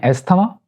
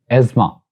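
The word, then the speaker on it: asthma: का नेम है और इसको लोग प्रोनाउंस करते हैं एस्थमा, हालांकि एस्थमा नहीं है, actually it's एज्मा, एज्मा, quite different, not एस्थमा बट एज्मा।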